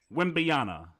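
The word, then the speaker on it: Wembanyama: Victor Wimbiana. Wimbiana.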